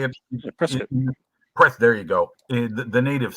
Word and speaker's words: Prescott: Well, it's pronounced Prescott. That's how you say it. Prescott.